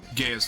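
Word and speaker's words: Gaea: That is pronounced gaya.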